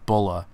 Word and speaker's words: Bra: with bulma's name is literally just how the name is pronounced in japanese that's how they got the name bola back in dragon ball